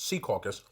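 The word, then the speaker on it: Secaucus: caucus New Jersey yes for people not from here it's pronounced SE caucus I don't want to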